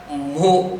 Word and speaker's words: mho: Resistance का unit है ओहम, तो इस यूनिट को MHO उल्टा स्पेल करते हैं, MHO। ये हो गया मो, ऐसा इसको प्रोनाउंस किया जा सकता है, और ये है ऐसा यूनिट ऑफ कंडक्टेंस।